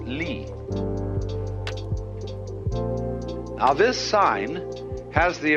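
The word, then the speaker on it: 理: shelves are rectangular but the Chinese have a word for order for the order of the universe which is this they pronounce it Lee now this sign has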